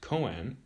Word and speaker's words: koan: the mondo is intimate the koan pronounced koen is a word or